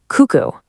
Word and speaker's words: kuku: And last but not least, we have U, which is pronounced like the U in food. Let's try the word for chicken. Kuku.